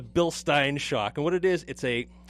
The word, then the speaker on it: Bilstein: quality Bilstein shock and that is the correct way to say a Bilstein not Bilstein i mean my technical idle target out of it so it's a bill stein shock and what it